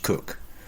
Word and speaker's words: Coke: One such probably apocryphal but enduring and ancient and therefore possibly true story about this involved the young lawyer Edward Coke, pronounced Cook, who later became Solicitor